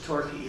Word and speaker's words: Torquay: Torquay is Torquay, but the Q is a key in the British like it. Quay, we would say it K. It's a key in the English. So it was Torquay, and Payton was Paigton, Payton.